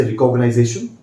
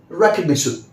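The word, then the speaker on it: recognition: Some people से रिकॉग्नाइजेशन, but what I से इज रिकग्निशन। Remember friends, आप कभी भी इस वर्ड को ऐसे मत बोलिए रिकॉग्नाइजेशन, pronounce it, ट्राई to pronounce it एज रिकग्निशन। कोशिश कीजिए कि इसको आप ऐसे बोलिए रिकग्निशन।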